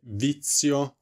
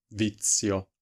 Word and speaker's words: vizio: zero Quindi ricordate che il suono Z di pizza per esempio è molto simile a una t e una s quindi Z ricordate vizio potreste leggerlo nella vostra mente quando pronunciate questa parola come vit siio vizio vizio Per quanto riguarda